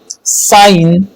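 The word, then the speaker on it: sign: एन से पहले आने वाला जी साइलेंट होता है, जैसे डिजाइन, साइन, रिजाइन।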